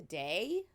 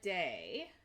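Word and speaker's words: Dae: So, like, late in the day?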